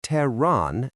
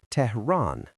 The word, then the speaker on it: Tehran: Some people say Tehran and others say Tehran. Both are acceptable in English, though Tehran is closer to the Persian pronunciation.